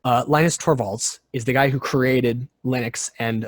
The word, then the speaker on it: Linus Torvalds: uh really goes to linus torvallis which or i'm sorry i totally butchered that linus torvalds is the guy who